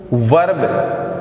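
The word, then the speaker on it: verb: इस आर की जो साउंड है वो साइलेंट रहती है, वर्ब ना कि वर्ब।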